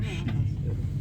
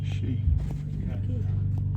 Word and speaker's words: Ski: This time you'd expect this name to be pronounced ski, but it's not. It's also she but I mean I mean it's the same as skiing.